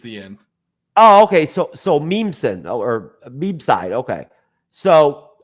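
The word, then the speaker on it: Mnemosyne: Mean Mosin. Okay, whatever. The M is silent. It's the just the end. Oh, okay. So Memeson or Meme side.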